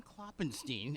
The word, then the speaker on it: Klopfenstein: We have Klopfenstein. Am I pronouncing that correct all the time? Yeah, that's correct. Is that good? Yeah. That F is silent. Is that what you say? Yeah, it's silent. Correct. You ever thought of getting